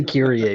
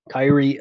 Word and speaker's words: Kyrie: you like putting it i say curie but kyrie i mean most people are saying kyrie and that's fine that actually kind of sounds cool so two syllables is easier than three but yeah yeah we're